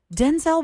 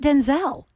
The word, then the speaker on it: Denzel: in all the projects, Denzel Washington is telling us we're not saying it right either. What? It's not Denzel. It's Denzel.